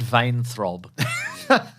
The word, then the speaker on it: Weintraub: And Stephen Weintraub, I never know how to spell this guy's name. He's in Collider. He's Frosty from Collider. Okay. Says It's pronounced vein throb.